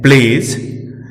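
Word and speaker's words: pledge: अब हम बात डी की करें तो डी के बाद जी लगा हो तो डी साइलेंट रहता है। हम निम्न शब्दों में देख सकते हैं प्लेज, स्लेज, ब्रिज। इन सभी शब्दों में डी साइलेंट है क्योंकि डी के ठीक बाद जी आया है।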